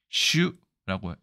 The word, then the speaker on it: 襲: 그다음 일본에서도 똑같이 씁니다 발음은 슈라고 얘기하고 오소우 훈독입니다 이거는 엄습하다 습격하다